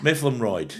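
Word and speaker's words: Mytholmroyd: Mifflinid.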